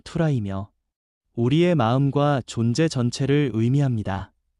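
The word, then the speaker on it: θύρα: 문이라는 헬라어 발음은 투라이며 우리의 마음과 존재 전체를 의미합니다.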